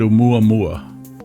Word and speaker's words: Oumuamua: I don't know how you pronounce that. Everyone calls it Oumuamua.